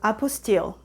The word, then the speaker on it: apostille: how you say it it's not apple style because apple style has something to do with academics so apostille anyway correct me if